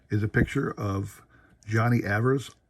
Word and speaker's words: Evers: Now this here is a picture of Johnny Evers. I say Evers. I know some people will say Evers, but I believe his name is pronounced Evers.